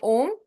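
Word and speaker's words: ॐ: ठीक है, ओम बोलते हैं, AUM। थर्ड आई चक्र को ओम बोल, एम, ओम। और क्राउन चक्र को AUM बोलते हैं, ओम।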